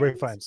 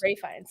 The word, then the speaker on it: Ralph Fiennes: Ray Fiennes. Ray Fiennes.